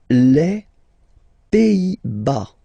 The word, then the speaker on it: Pays-Bas: Les Pays-Bas. Final S here, not pronounced. Same thing here.